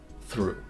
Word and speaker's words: through: high vowel and then the GH again is silent through finally we get to